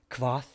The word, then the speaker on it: Kvothe: It's like Kyoth or Kvoth. I think it's Kyoth. It's spelled K-V.